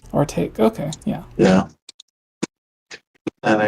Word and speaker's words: Artake: How do you pronounce it? It's Artake. Artake.